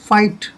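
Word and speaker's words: fight: ऊंचा जैसे ये है इसको हम फॉरगेट नहीं पढ़ेंगे फाइट फाइट होता है लड़ना जैसे यहां पर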